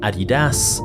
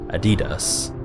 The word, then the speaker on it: Adidas: of his surname dazla depending on where you're from you may pronounce it Adidas or personally I've always heard Adidas as for Rudy he